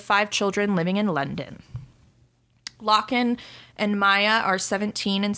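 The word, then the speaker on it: Lochan: pronouncing that right but it's spelled l-o-c-h-a-n okay so it's like lachlan without the second l and maya whitley the two oldest of five children living in london lochen and maya are 17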